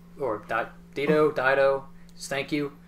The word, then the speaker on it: Dido: It samples Dito's or Dido, thank you. I'm not sure how to pronounce her name, but it shows.